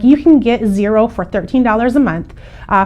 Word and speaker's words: Xero: to talk about is zero and zero is spelled x-e-r-o we do use zero